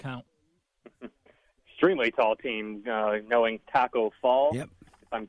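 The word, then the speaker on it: Tacko Fall: Extremely tall team, knowing Taco Fall, if I'm pronouncing that name correctly.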